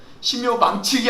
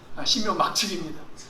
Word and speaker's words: 신묘막측: 얼마나 신묘막측한, 발음을 잘 하셔야 돼요. 신묘망측이 아니라 신묘막측입니다.